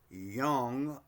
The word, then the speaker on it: Yang: Yin and Yang pronounced yang as in gong as in gong is the is one of the most fundamental concepts in Chinese medicine.